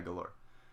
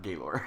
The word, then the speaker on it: Galor: doors galore class 4 yeah galore not Gabe or hahahaha buddy it's funny